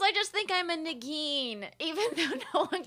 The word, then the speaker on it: Negin: No, because I just think I'm a Negin, even though no one can You look like a pronounce it. Negin.